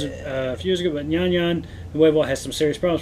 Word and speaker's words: Nyan: Nyan. Nyan. Nyan. Nyan Nuevo. Or Nuevo. Nuevo. Which you remember from viral news a few years ago, but Nyan Nuevo has some serious problems.